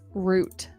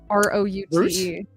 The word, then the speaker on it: route: Oh, someone asked, how do you both pronounce root? R-O-U-T-E. Root. Route? Is that? Oh, hang on. The R-O-U-T. R-O-U-T-E. Yes, root. I'll take that. Yeah, root. Some people say route. Some people say route here.